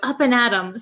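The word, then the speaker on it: up and at 'em: hear some thunder so the actual word is up and at them but we don't pronounce it them we say m we take off the th sound so up and adom sounds like you're gonna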